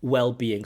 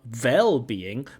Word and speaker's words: well-being: well-being and mental health well-being so it's with a W not with a V so this is well-being and also the stress is on wellbe D D D D not du D not wellbeing but well-being so listen